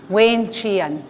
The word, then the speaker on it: wenchian: Ande, wenchian. Wayne Chian. Wayne, like Wayne, the name Wayne.